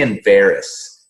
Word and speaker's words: Enverus: Certainly the legacy of Drilling Info, which I always say Enverus. Am I saying it right?